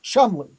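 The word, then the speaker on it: Cholmondeley: where it's kind of like how CHALMONDELEY is pronounced Chumley.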